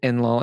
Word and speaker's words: Enlil: Where did you get Enlil, and how do you pronounce it, or how do you spell it?